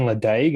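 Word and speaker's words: Ledaig: industry here and then someone's pronounced as leche one day and i was just like you mean ladague and then you know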